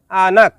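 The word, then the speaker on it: anak: শব্দটি লেখার ক্ষেত্রে লিখতে হয় আনাক, তবে এর সঠিক উচ্চারণ হবে আনা।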